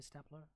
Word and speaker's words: stapler: Could you pass the stapler, please? Well, this is not stapler. This is supposed to be pronounced the same way as staple, and it becomes stapler.